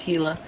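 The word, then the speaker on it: Gila: the the heila actually even though it starts with the G it's pronounced heila for those of you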